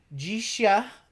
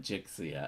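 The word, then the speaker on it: Jixia: stream we'll do uh gisha Academy that's how you pronounce it gisha gisha Academy we we usually call it jix Academy yes but Jay over at cardboard East corrected me on that one you know so how do you pronounce it gisha gisha so the X in uh Cantonese I think makes a sh sh sound gisha you know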